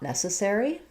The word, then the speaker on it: necessary: We have a question about how to pronounce not necessary. Necessary. So the main stress in this phrase is going to be on the ne syllable.